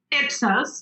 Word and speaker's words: Ipsos: becoming the CEO of epsos is that is that the correct way of pronouncing it ipsos and I I ran